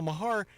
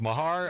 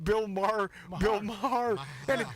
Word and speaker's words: Maher: So it's Mahar." Is that how you pronounce it?